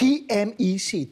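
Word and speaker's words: T-MEC: No, we call it something in Spanish that is much more pronounceable. What do you call it? TMEC, TMEC.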